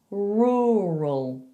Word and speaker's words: rural: be able to say rural, rural. Okay, try the first sound, raw, raw, and then do another, rural, rural.